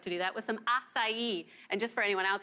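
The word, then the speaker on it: açaí: do that with some acai. And just for anyone out there, that's how you pronounce that berry, acai. It's from the Amazonian rainforest.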